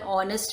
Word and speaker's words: honest: Okay, like words our, honest man, here H is silent.